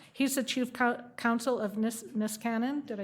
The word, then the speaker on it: Niskanen: He's the chief counsel of Niskanen, did I say it right? Yes, Niskanen, very good.